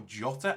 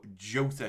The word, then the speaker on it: Jota: I've actually learned, I think it's Jota or Jota. I think the J is pronounced. Normally you wouldn't pronounce it, but supposedly it's Jota.